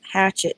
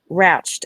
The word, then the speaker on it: Ratched: When you were saying it, I'm like, I don't remember Hatch, so it was Hatchet. But it was Ratchet with an R. Ratchet, sorry, Ratchet. I don't remember And now it's Ratched.